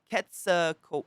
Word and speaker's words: Quetzalcoatlus: Quetzalcoatlus.